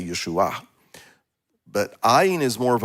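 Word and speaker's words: ישוע: So in Yeshua, it has the patach, I think it's the patach, and which is an ah sound, and so that's why we say Yeshua.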